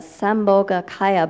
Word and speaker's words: Sambhogakaya: I don't know how effectively I'll be able to do this, but Sam, and this is Bo. Oh, thank you. Ga. Kaya.